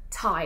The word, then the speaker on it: Ty: 90s in suitcases in there primarily disney or thai it's called thai i know it's t y but it's actually pronounced yeah so anyway we're going to start